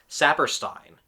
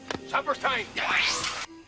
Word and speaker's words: Sapperstein: Even half of the time, I swear it sounds like he mispronounces the name of his bubbling assistant, Sapperstein. It almost sounds like he's shouting supper time. Supperstein.